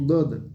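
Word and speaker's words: ض: Et attention au dod, très peu savent prononcer bien le dod. Et sachez que la langue arabe, on l'appelle le watou dod. Parce qu'il y a seulement les arabes qui prononcent cette lettre. Mais vraiment, subhanallah, très peu savent bien prononcer le dod.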